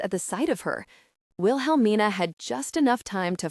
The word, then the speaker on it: Wilhelmina: The second L is silent.